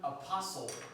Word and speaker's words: apostle: Airborne, apostle. Don't say apostle. The T is silent.